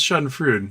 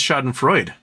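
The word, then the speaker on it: Schadenfreude: fuit say Shodan Freud I'm pretty sure it's Browns shod and fruit not shod and Freud never heard it say shod and Freud how to pronounce Shan uh oops shoden fruit oh it says shod and Freud shod and Freud shod and frea okay you are correct I am wrong what was her just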